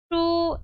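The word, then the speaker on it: 书: 슈, sh, 우인데요. 원래는 이거 우 소리이지만 sh, h가 붙는 이 소리들을 만나게 되면 모종의 이의 소리를 하나씩 추가시켜 주는 거예요. 그래서 이 발음이 sh는 시오 소리이니까 여기에다가 우에서 하나를 더해줘서 슈 이렇게 읽어주시면 돼요.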